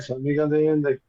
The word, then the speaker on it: San Miguel de Allende: Did I get the pronunciation right? Very good. Very good. You got it right. San Miguel de Allende.